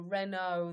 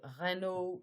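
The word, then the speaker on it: Renaud: But this is a very famous French singer who looks just like him, who's called Renault, the fox. And this is, you see, Renault is the same pronunciation.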